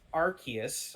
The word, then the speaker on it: Arceus: I'm going to say it's Arceus, I believe is how it's pronounced.